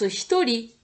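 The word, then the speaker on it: 一人: kanji, ça se prononce hitori. Ça s'écrit R-I, mais ça se prononce li, hein.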